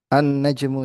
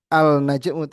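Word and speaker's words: النجم: Annajmu ya. Bukan Alnajmu tapi Annajmu ini namanya ee Syamsiah ya.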